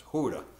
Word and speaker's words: Gouda: It's spelled Gouda, but when I was in Holland, I learned they have a hard cheese, so that's Gouda to them, and they're the ones that make it.